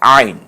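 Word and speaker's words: عين: পরের হরফের নাম আইন একটু গলায় চাপ দিয়ে বলতে হবে আইন আরেকবার বলুন আইন এটা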